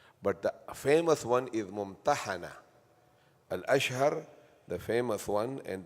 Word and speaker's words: Mumtahanah: So both pronunciation are correct mumana and mum but the famous one is mumana alashshar the famous one and the most ra